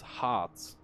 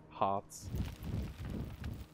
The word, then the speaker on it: Harz: This is resin, and it's I think in German it's Harz, so it's like H-A-R-T and then a Z, Harz.